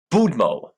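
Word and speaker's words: Будьмо: this word before it's budmo bumo Mo DM o apparently they have a vodka named after it oh okay uh okay the D has to be pronounced softly you can listen to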